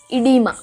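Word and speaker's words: oedema: 10th term is इडीमा। ओ is silent, और कई books में सिर्फ ये ही स्पेलिंग लिखा जाता है, तो कुछ भी हो सकता है, बट इसको प्रोनाउंस करते हैं इडीमा।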